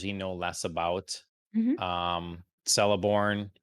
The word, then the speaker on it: Celeborn: Celeborn, that's how you say his name.